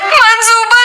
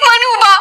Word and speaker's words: मनूबा: मंसूबा नहीं मनूबा। सोच साइलेंट है मेरे नाम में।